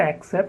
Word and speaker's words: accept: many people they say accept it is not accept it is accept the first syllable is the schwa sound except the third